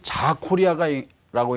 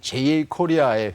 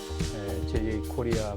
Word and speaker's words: JA코리아: 네, 오늘 우리 이슈앤 피플에서 남들이 자코리아라고 읽는 JA 코리아의 회장을 초청해 주셔가지고 시청자 여러분께 소개해 할 수 있는 기회를 주신 데 대해서 진심으로 감사드립니다.